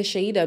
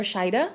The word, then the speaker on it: Shaeeda: that you say to sheida because or shaida i think it's pronounced shaida because say something like